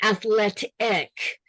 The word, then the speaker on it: athletic: Yeah, athlete and athletic. So it's an accent and it's also athlete. I hear a long E, athletic. Yeah, short E.